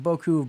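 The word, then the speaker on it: Beaucoups: fact that you know Boku Blues buku of Blues both pronunciations you hear uh the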